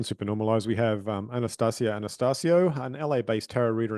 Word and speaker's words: Anastacia Anastascio: Welcome to Super normalized Anastasia Anastasio thank you for saying my name correctly I practi so Anastasia